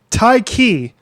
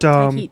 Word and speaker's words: Tyche: Song called "Welcome Home" from Tyche. That's how you pronounce their name. But Tyche, Tyche, Tyche.